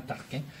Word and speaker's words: Tarquin: elle parce que l'on je le prononce comme tolkien comme sa taxe carbone mais c'est vraiment tarquin et puis l'intégrale cette